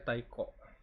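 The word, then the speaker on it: 太鼓: Drum itu apa sih bacanya? Tal taiko. Ee taiko. Drum itu bacanya taiko.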